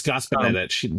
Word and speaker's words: Gospodinich: Said, it's Gospodinich. He told me that.